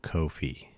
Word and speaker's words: Ko-fi: I'm sure they pronounce it coffee, but just want to be clear that it's Ko Kofi.